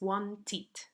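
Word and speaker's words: wanted: en un sonido t por tanto el pasado es want it no want want it es la pronunciación porque porque es imposible decir wang por tanto nos fuerza a que usemos este it lo mismo con this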